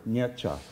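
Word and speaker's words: Nietzsche: though um you know nietzscha is how the California would say this or most Americans like that uh but the the uh the polls no you know know that's a two-syllable word nietzscha okay um you know even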